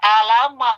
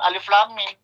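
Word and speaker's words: الم: Andaikan dia pertama kali, lalu dia itu pernah belajar Iqra, Bata, paling bacanya Alama, bukan Alif Lam Mim.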